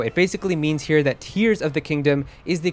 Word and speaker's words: Tears of the Kingdom: for the game and nintendo has confirmed to eurogamer that it is in fact tears of the kingdom as in crying now despite all of